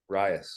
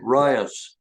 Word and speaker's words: RIAS: I know none of none of you in Ras no no no rice by the way is the pronunciation rice okay rice yes I'll start calling it the right thing